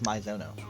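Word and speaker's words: Maizono: How do you say her name? Mizono. That's how she pronounced it. Like she just pronounced it as Mizono.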